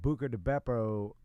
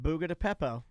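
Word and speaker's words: Buca di Beppo: So you just told me that Buca de Beppo is closing down. I'm glad you say it right, because I think most people that I know call it Buga de Peppo.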